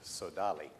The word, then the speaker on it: Sodali: sir thank you very much um the correct pronunciation is sodali thank you and uh um as you can